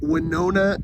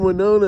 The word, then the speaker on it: Winona: but the only reason Winona is in the song is it Rhymes it rhymes with Arizona and it's out of